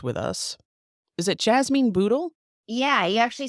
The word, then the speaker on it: Bootle: truly fascinating guest with us is it Jasmine ble yeah he actually said a correctly my last